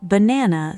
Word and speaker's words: banana: The first and last vowels flatten dramatically into a quick, weak uh sound. Banana. While only the stressed middle syllable keeps its full, clear vowel quality.